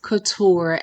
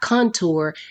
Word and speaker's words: Couture: pronounce her own name Jeanie is pronounced Couture as in high fashion custom fitted clothing not Contour as in makeup which is a technique used for adding Dimension to your face with heavy makeup who